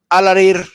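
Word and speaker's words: Alareer: ¿Cómo se pronuncia? ¿Rafat Al-Arer? Al-Arir. ¿Al-Arir? Uh-huh. Bueno, pues asesinado en uno de estos misilazos que le comenté ahorita, Al-Arir.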